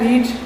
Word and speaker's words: read: देखो पढ़ने को बोलते हैं रीड। क्या बोलते हैं, रीड। सेकंड फॉर्म होती है रेड, READ, रेड।